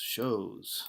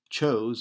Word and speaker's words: chose: Shows. I think that's shows. That's from French. That's why it's pronounced strangely. So instead of chose, it's shows.